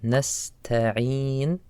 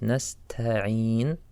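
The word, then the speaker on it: نستعين: Then we have nasta'een. The letter ta, make sure that you sound it like this, nasta'een, not nasta'een. Make the letter light, nasta'een.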